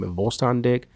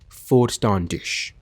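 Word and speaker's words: Vollständig: Volstandig? I think it's pronounced Volstandish. It's what somebody told me in the chat one time, so I'll say that. Volstandish.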